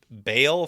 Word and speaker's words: Bel: And then Bel, which is pronounced Baal from what I could tell, because there's like a little accent on the word.